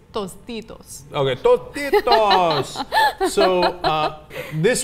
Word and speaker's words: Tostitos: Tostitos okay so no say it correctly it's Tostitos okay toos so uh this one is more